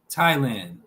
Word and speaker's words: Thailand: In some cases, th is pronounced just as t. Thames, Thomas, time, Thailand.